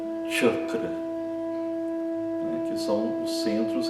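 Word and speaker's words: चक्र: Então, na palavra chakra, por exemplo, ela não é escrita na transliteração do sânscrito com CH, é simplesmente o C, e tem esse som chakra, né, que são os centros energéticos dentro do nosso corpo.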